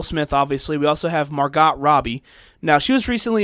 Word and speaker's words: Margot: if call her Margo usually that's pronounced Margo even though there's a t on the end yes okay Margo sorry